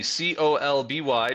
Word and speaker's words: Colby: Colby, Colby, just like the cheese.